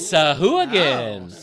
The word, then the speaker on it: Sahuagin: Exactly, they have the pronunciations. go. I bet all our listeners It's Sahuagin.